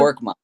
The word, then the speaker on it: Korkmaz: How do you pronounce it? Korkmaz.